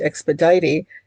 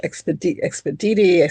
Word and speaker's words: Expedite: Another one, and people will get mad at me because I'm saying Saint Expedite, and it's Saint Expediti, Saint Expeditus, Saint Exped. What you can pronounce it however you want to pronounce it.